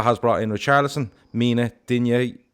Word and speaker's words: Digne: And Silva has brought in Richarlison, Mina, Digne, or Luca Dean, as I think is the proper way to say it.